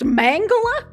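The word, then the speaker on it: Mengele: think you pronounced it mangala really is it's pronounced mangala that sounds so stupid pronounce fragile yes you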